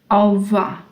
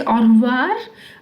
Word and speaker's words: au revoir: Au revoir. This r is not pronounced. Some people say au revoir, but that's rare.